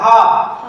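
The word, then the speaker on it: half: छठा नंबर देखेंगे एच ए एल एफ हाफ क्या है, हाफ, इसमें भी एल के बाद क्या आया हुआ है, इसका मतलब एल इसमें साइलेंट होगा।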